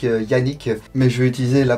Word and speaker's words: Canik: turc ça se prononce Janik, Yannick, mais je vais utiliser la prononciation française, le C et un A, ça fait K, donc pour moi ça sera Canik, désolé pour les puristes.